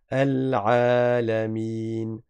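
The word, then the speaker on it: العالمين: Il est obligatoire. de le prononcer. Donc on prolonge la lettre ain alamin.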